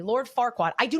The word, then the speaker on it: Farquaad: Lord Farquaad, by the way, you're even not even saying it correctly. Lord Farquaad.